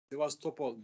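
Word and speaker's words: Sébastopol: Sivastopol, B okunuyor ya.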